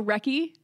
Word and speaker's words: Wrecky: So Wrecky rhymes with Becky.